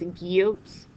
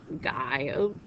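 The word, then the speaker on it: guyot: under the impression that this is a French word so it's pronounced as guot not Goot the Abyssal Plains and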